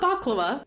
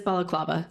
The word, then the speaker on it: balaclava: So, he's wearing a balaclava. Am I saying that right? Not baklava. Bellaclava. I'm pretty sure that's how you say it. Please back check me. Can our editor check? What was that? Oh, he says it is balaclava.